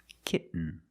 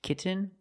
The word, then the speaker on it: kitten: When you make the stop T, the tongue is up almost in the N position. So you don't have to change much. K. Kitten. But don't say kitten. I cannot pronounce these T's as a fast D. I cannot say kitten. It's kitten or more commonly kitten.